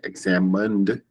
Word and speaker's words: examined: So when you say examined, you just have the min sound, not mine.